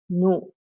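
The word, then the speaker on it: ぬ: Okay, the hiragana pronunciation is nu, nu, okay?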